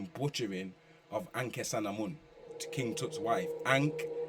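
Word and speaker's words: Ankhesenamun: which is a butchering of anke sanamon to King Tut's wife ankh s n Amon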